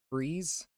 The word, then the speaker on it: frieze: A frieze that freeze. I'm in hell. How do you Pronunciation difficult. Google I define hear freeze and I put my hands up. freeze? Freeze. Yeah, it's just freeze.